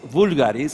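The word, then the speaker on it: Voulgaris: And also, the reason I came here is to make sure that the whole world knows that Sotiris Vulgaris, is the correct pronunciation, was Greek.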